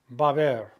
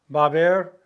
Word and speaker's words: haber: The H is silent. It's like one syllable, ba, and then another syllable, ber. Baber. Baber.